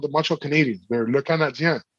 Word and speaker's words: Canadiens: They're not called the Canadiens. They're called the Canadiens. It's spelled IENS for a reason.